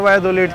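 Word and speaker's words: Valladolid: वैसे स्पेलिंग है वायदोलिद की VLLADOLID, लेकिन स्पेनिश के अंदर और ख़ास करके मैक्सिकन स्पेनिश के अंदर डबल एल को या प्रोनाउंस करते हैं तो ये वायदोलिद बन जाता है।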